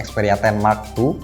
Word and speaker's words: Xperia 10 II: Di bagian depan ini ada keterangannya langsung Xperia 10 2, dibacanya Xperia 10 Mark II.